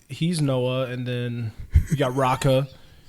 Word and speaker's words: Noa: that's his name yeah it's spelled NOA but like Noah is the name of white kids I went to high school with bro yeah it's kind